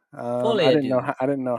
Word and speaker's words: Folie à Deux: So Joker, I finally learned how to actually pronounce this. It's Joker Folie à Deux. fully ado.